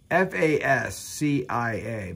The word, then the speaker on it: fascia: It's F-A-S-C-I-A, but I'm going to pronounce it as fascia. You might pronounce it differently, but you know what I'm talking about because I spelled it.